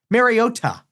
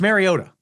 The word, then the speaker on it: Mariota: Marota. They kept pronouncing the last T. Marota. Mariota. It's Mariota. Just just slur through the last T.